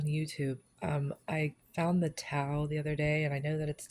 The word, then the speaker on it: tau: Um, I found the towel the other day and I know that it's tow now because in the article I just read it says tow rhymes with cow.